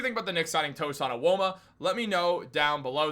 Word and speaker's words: Tosan Evbuomwan: But guys, what do you think about the Knicks signing Tosan Evbuomwan? Let me know down below. That is how you pronounce his name.